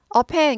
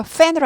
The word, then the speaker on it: pen: 펜 발음 별로 크게 어렵지 않아요. 이거 fan으로 하시면 안 돼요. F 발음 아니에요. P예요. P. P는 한국말의 프, 피읍하고 거의 비슷해요. 그래서 파 해서 양쪽 입술, 위아래 입술이 딱 붙었다가 딱 떨어지면서 나는 겁니다.